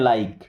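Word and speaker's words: like: उसके बाद जब आई के सपोर्ट में ई आता है तो यहां पर भी ई साइलेंट हो जाएगा। क्या? ई तो साइलेंट हो जाएगा। लेकिन आई को आई की तरह पढ़ेंगे। जैसे एल आई के ई तो इसे पढ़ना है लाइक।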